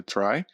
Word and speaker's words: trie: Tre basically a try pronounced as try is a or prefix